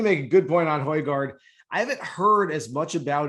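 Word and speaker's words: Højgaard: Hojgaard, the Dane.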